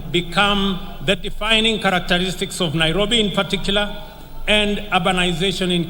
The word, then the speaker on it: Nairobi: let us recall that the city is an anglicized pronunciation of encare which is the kimasai means which in kimasai means the river of Cool Waters for the Maasai a